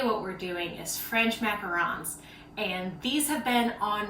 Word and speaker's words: macaron: bit particular um and i've had multiple people tell me that it's uh that i say it wrong macaron french macaron macaroon is a completely different cookie so i don't know